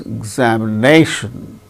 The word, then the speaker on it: examination: many syllables are there so fourth syllable gains primary stress more importance another word also another syllable also gains little bit less importance exactly a second syllable gains less importance so it is said to receive secondary accent so in the case